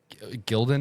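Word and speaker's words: Gildan: Gilden is how you pronounce it because we have a couple and they last years.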